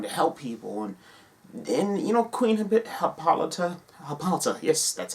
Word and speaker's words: Hippolyta: And Queen Hippolyta, yes, that's how you say it.